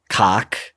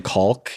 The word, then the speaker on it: caulk: Jordan's making an extra effort to pronounce the L in caulk, even though I'm pretty sure it's cock, because he doesn't want people to think he's talking about a penis.